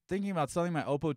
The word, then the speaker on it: Oppo: really the situation the opal will playback more I'm sorry the oppo will playback more I got to start saying it right up oh right it's like it's Porsche not Porsche its Oppo so I got to start